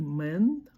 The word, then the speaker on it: мен: Это слово звучит не мен, а мен.